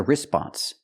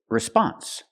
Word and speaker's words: response: in a few minutes we cannot pronounce the word response the stress is on the second syllable not the first so we have to say response response move the stress